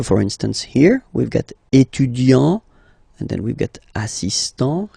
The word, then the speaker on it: étudiant: Okay, A-N-T, étudiant. Okay, but then for the feminine form, elle est étudiante. Okay, t. Okay, you don't really insist on the e, but you insist quite much on the t.